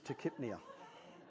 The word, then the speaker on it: tachypnea: Do not come at me about my pronunciation. Grow up. It's tachypnea.